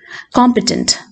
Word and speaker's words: competent: Competent, kando first syllable laana stress varunathu.